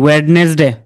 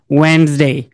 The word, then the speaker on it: Wednesday: ওয়েডনেসডে, কিন্তু এখানে ডিটা হচ্ছে সাইলেন্ট, এটা কি বলবে? ওয়েন্সডে।